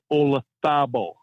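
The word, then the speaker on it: Olazábal: Jose Maria Olazabal, not Olazabal, Olazabal.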